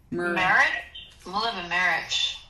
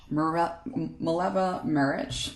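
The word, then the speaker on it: Mileva Marić: Mileva Marich. Mileva Marich, and Zelda and Scott Fitzgerald, as well as FDR and Eleanor.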